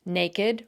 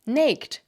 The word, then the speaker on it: naked: crooked, ragged, and beloved, has the same unusual pronunciation of the suffix ed. If these words were pronounced like most English words ending in ed, they'd be pronounced naked, rugged, jagged, accursed, aged, dogged, wretched, wicked, crooked, ragged, and beloved. That's because usually the ed suffix is just pronounced as a d or